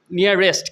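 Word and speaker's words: nearest: নিয়ারেস্ট কিন্তু হ্যাঁ, শেষে একটা টয়ের উচ্চারণ আছে। Where is দ্য নিয়ারেস্ট store?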